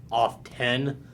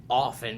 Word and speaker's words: often: so what's the deal i personally don't like the word pronouncing it that word off 10 unless if i need to spell it other than other than that it's often because you don't see castle you don't say list 10 or soft tender i i often hit